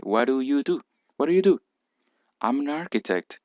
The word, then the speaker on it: What do you do: What do you do aquí la d se pronuncia como una r y aquí hay una t y una d que para ambos casos cuando están entre vocales se pronuncia como r What do you do